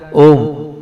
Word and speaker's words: ओम: ये ओ का उच्चारण कंठ से और म का उच्चारण नाक से करना है।